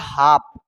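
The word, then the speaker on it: half: यहां पे लिखा है हाफ। तो हाफ भाई ऐसे भी तो लिख सकते हैं एच ए एफ हाफ लेकिन बोलने में तो एल कहां गया तो एल भाई साइलेंट है इसमें हाफ मतलब आधा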